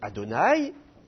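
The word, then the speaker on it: אֲדֹנָי: Ensuite, vous reconnaissez le tétragramme, qu'on prononce Adonai, et il est précédé de la préposition lamed.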